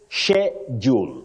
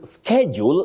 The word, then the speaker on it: schedule: then we have mavid you say schedule schedule not don't say shule it is schedule in American English that is American English